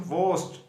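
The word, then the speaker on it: worst: Quietly inferior, bad, वोस्ट, ये are silent होता है इसमें, वोस्ट।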